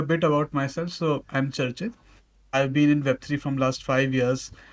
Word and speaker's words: Charchit: Sorry if I'm mispronouncing it. Did I say it correctly? Yeah, it's Charchit. Charchit.